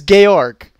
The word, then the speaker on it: Georg: George Wilhelm Friedrich Hegel, it's way too many names. Somehow, I said all of this, like, German-like, except for his first name. I said George for some reason. It's Georg.